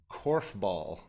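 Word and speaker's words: korfball: you've not heard of it how do you spell it k-o-r-f and then bull b-a-l-l Corf ball yeah that's the one I have never heard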